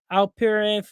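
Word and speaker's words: Alperen: Maxi from the 76ers, and then you got Al Perin um from the Houston Rockets.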